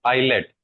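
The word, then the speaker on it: islet: एाइनल सर एसाइनिस cell और इनको बोलते हैं आइलेट। एस साइलेंट होता है।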